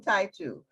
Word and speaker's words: Taitu: I'm not familiar with Titu. How do you pronounce that, Mother Tendai? I spelled it incorrectly. It's Queen Taitu.